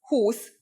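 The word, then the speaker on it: húsz: the pronunciation for example 20 is who's with a long u but 21 is who on Ed with the U pronounced short four is n but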